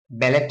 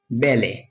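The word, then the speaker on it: ballet: এরপরে বি A double L ইটি ব্যালেট হবে ব্যালেট না এটার উচ্চারণ হবে বেলে এটার উচ্চারণ হবে বেলে বেলে হচ্ছে এক ধরনের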